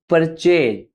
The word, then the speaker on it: purchase: परचेज, wrong pronunciation परचेज। हम इसमें पर ज्यादा प्रेशर कर देते हैं और चेज बहुत शॉर्ट होता है। चेज, परचेज।